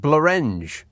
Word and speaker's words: Blorenge: And Blorenge rhymes with orange. No, it doesn't, unless you're pronouncing it Blorenge. But it's spelled Blorenge. And that looks like Blorenge to me. Because it's got an E after the R, as opposed to an A. And that's crucial in, rhyming.